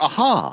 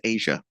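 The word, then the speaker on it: A'ja: I want to call her Aja. Well, or Aha. It's pronounced Asia.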